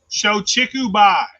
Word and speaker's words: Shochikubai: Shochikubai. Shochikubai. You better spell that shit.